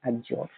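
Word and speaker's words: adjure: एज्योर। यहां पे जो डी है ना ये साइलेंट होता है। इसको प्रोनाउंस करते हैं एज्योर।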